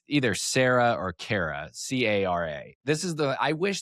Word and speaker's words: Cara: In France, no, it's a C. C-A-R-A is a Cara. That's a hard C sound.